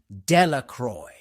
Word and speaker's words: Delacroix: The villagers pronounced this name Delacroix.